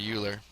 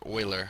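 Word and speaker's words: Euler: to this guy uh Leonard uler or Oiler I think is uh probably how it's supposed to be pronounced had a lot of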